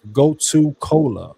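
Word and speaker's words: gotu kola: Often combined with goto cola or brahmy. Go to cola is it's spelled go t u k o l a or bra.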